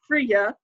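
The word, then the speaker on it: Frige: is Fri GE the the G is usually pronounced as a Y in anglo-saxon so when you see that like the word ear is spelled so Fria is a goddess of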